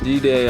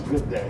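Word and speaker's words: G'day: G-Day, Australia. No, it's good day. That's how they say it? Yeah, good day.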